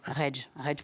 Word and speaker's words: Redge: Ça s'écrit M-L-L-E-R-E-D-G-E. Facile. Reg pour rouge, la petite mèche de cheveux rouges qu'on voit un peu là.